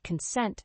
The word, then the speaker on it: consent: fourth word is consent the word consent has two syllables with the stress on the second syllable consent is a noun